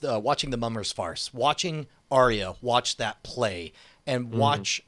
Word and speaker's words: Arya: I did definitely think the Arya, is that how you say it? Arya.